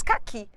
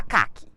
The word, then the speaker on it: caqui: justificativa e o exemplo a palavra cqui automaticamente nós falamos caqui ninguém fala caak cqui se alguém falar caak incorreto inade qu cqu a sílaba mais forte ficou Clara que é o i que que nós